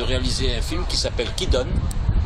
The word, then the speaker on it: Kidon: Emmanuel Nakache, alors vous venez de réaliser un film qui s'appelle Qui donne? Voilà, donc c'est la vraie prononciation, mais on pourrait dire en français qui donc, mais qui est-ce?